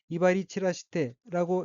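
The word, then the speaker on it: 威張り散らして: 우선 빨간색 줄침 부분을 보면 왼쪽의 어깨는 한자가 한국어로 위장 및 산이고 각기 위험이 배불장 및 흐틀산자로 되어 있고 일본어로는 이바리 치라시테라고 읽으며 이바리 치라시테는 뽐내다 거만하게 굴다는 뜻의 자동사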